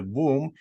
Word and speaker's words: womb: the word wom um also rhymes with tomb so when we go